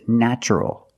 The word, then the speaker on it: natural: Also in this pattern, the t is pronounced with the ch sound. So the word is natural.